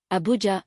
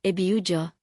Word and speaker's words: Abuja: Nigerian cities, Abuja, Abuja, Lagos, Lagos, Kano, Kano, Ibadan, Ibadan first syllable.